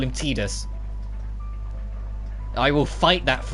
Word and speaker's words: Tidus: since Ratchet and Clank 2, and who's also Tidus in Final Fantasy X, you know, the main character of Final Fantasy X.